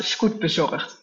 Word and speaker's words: Scootbezorgd: It's pronounced Scootbezorgd. It's like Scoot delivered.